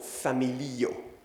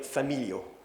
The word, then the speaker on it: familio: Les débutants, ils ont tendance à dire familio. Mais non, c'est familio, donc toujours un IO. En fait, dans un mot en espéranto, chaque voyelle écrite, c'est une syllabe. Donc, familio, il y a 4 voyelles, il y a 4 syllabes, c'est simple. Et c'est l'avant-dernier qui est accentué.